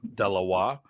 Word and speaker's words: dalawa: Okay, so first of all, Delawa, when we pronounce, a lot of times we pronounce it sloppy. It sounds like E, as in Delaware, Delawa. It's Delawa. So it's more of a flat A, I think.